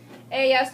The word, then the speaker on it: ellas: Ellas, talking about just girls, can only be about girls. Same as, instead of saying Sofia Ana, then just ellas, and pronounce it with a double Y.